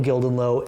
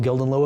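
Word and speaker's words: Gildenlöw: so um especially because daniel gildenlow appears on that one or daniel gildenliff i believe is how you pronounce his name but um very important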